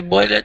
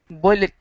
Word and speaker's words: boiled: starts with a B boilet we actually pronounce that one boiled boiled b b good i